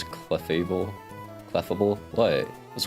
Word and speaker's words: Clefable: Cleffable. Not cleable. Not clefftable. It comes out faster when I say it like that. Cleffable.